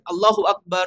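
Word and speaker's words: الله أكبر: Yang benar kan? Allahu Akbar, Allahu Akbar. Barnya dibaca pendek.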